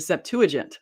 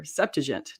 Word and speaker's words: Septuagint: take a look at the septuagint or septigent depending on how you want to pronounce that and so here we